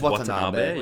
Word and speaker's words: Watanabe: Am I saying his name wrong? Watanabe? It's Watanabe. Yeah. It's Watanabe.